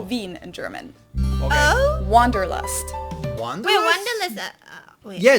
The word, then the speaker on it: Wanderlust: German word that we pronounce Wanderlust, and Oh, it's literally Wanderlust.